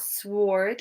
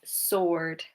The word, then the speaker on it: sword: So it's not sword, it's sword. Sword. Okay, so the W is silent.